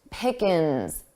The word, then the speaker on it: pickings: For pronunciation, notice how pickings sounded quite unstressed. Pickins, ins. So I dropped that ing, I dropped that G sound from the ing.